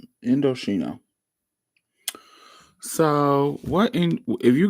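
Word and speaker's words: Indochino: So, Indoshino it is spelled I N D O C H I N O Indoshino.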